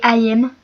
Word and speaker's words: Ami: Et c'est Ayem. Ça s'écrit Ami, mais c'est Ayem.